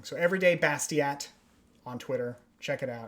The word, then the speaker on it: Bastiat: kind of uh yeah i used to think it rhymed every day bastier but i was pronouncing his name wrong so everyday bastiat on twitter check it